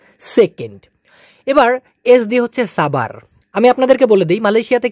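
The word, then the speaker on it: sabar: এবার এস দিয়ে হচ্ছে সাবার। আমি আপনাদেরকে বলে দিই, মালয়েশিয়াতে কিন্তু এই এসকে স উচ্চারণ না করে স উচ্চারণ করা হয়, স।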